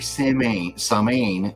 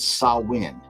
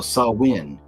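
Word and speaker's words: Samhain: so here you go so it looks like Sam samain but you can see a gelic word pronounced sawin so sawin is a pagan religious Festival originating from an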